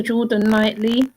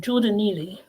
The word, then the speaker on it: Jordan Neely: could bring it up geordan Neely said his name wrong Jordan Neely he was he was